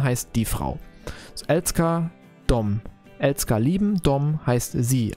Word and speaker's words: dem: Wie hat ihr das ausgesprochen? Kvinnan älskar dem. Dom. Die sagt da auch dom. Okay, interessant. Gut zu wissen. Dom. Wird es anscheinend auch ausgesprochen, auch mit dem M hinten dran.